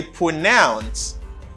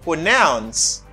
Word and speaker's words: pronounce: are not the same because in this the stress is in the first syllable and in this the stress is in the second syllable and they are not the same stress and the stress in this word is in the second syllable which is a verb okay